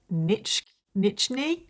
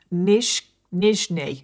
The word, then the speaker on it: Nizhny: And he grew up in the city of Nichny? Oh my god, I cannot pronounce this place to save my life. And I've looked up how to pronounce it. Nizhny in Novgorod, Russia, where he was an only